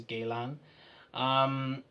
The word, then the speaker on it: Guerlain: for me on the galan counter or Galen a lot of people pronounce it differently it is known as Galen so a lot of